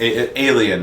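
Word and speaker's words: aliebn: black hardcover book by Johnny Sun, and it's Alien, not Aliabnin, but that's how it's spelled. There's like a B in there. The B is silent.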